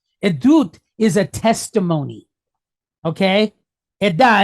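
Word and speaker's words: עדות: The root word is actually edda, but it's actually plural. So that's why we pronounce it edut. Edut is a testimony.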